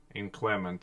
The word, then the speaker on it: inclement: Inclement, I thought, and you thought it's inclement, right? Yeah. Inclement. Inclement. Okay, where is Inclement. where's this? There. No, but inclement is the stress on the first syllable.